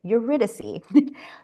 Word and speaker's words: Eurydice: Eurydice, the lovers who become ensnared by Hades and can't leave his underworld kingdom without paying a terrible price.